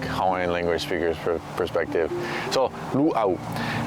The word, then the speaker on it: luau: free to use that the next word is Lu why in the world are we sitting by this uh we'll get to that in a minute but the pronunciation of that word is Lu there's a glal break between the U and